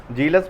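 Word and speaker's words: zealous: जीलस में spelling Z से start है, इस बात को ध्यान रखिएगा।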